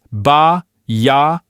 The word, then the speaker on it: Bayardo: Let's break down the name Bayardo. First things first, the vowels. In Italian, you pronounce every single vowel nice and clearly. So, it's ba yao.